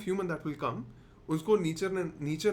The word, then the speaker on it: Nietzsche: नीचे का मानना यह था इसका प्रोनाउंसिएशन है नीचे.